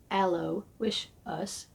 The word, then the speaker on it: Aloysius: Not too terribly long after the new sign was up, Joe Aloysius, pronounced Joe Allo Wish Us, while in a late-night whiskey stupor, was dancing with his fully loaded antique AKS in the parking lot.